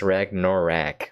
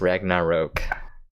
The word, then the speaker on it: Ragnarok: and the a last cuz I figure it's rag norak right but it's Ragnarok Ragnarok Ragnarok but like when you like pronounce it how it's spell it's ragnaro you